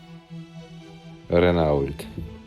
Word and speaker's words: Renault: how you say it of course of course Renault no not Renault not Renault Renault Renault said